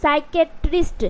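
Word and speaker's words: psychiatrist: तरीके से क्या है सा साइकेट्रिस्ट क्या है साइकेट्रिस्ट आपको इसे तोड़ के पढ़ना है साई क टिस्ट ओके यहां पर पी जो है वह साइलेंट है उसी तरीके से यहां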